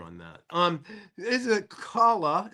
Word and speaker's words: Kala: that um is a Kala is it pronounced right kala that's right you got it you got it kala